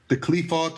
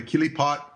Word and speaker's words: Qliphoth: So it's like it gets the turn down certificate from the morphogenetic grid, and it goes into the Qliphoth or the Kilipot. People pronounce it different ways.